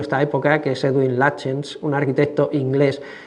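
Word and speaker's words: Lutyens: época, que es Edwin Lchens, un arquitecto inglés que se escribe lutens, eh, pero los ingleses, después de unos años de hablar con ellos, me he conseguido aprender por fin que se dice lachens, que para nosotros es un poco difícil.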